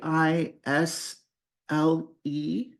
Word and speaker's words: aisle: The way it's spelled, uh, a i s l e. The s is silent. We don't pronounce the s at all. It sounds like isle.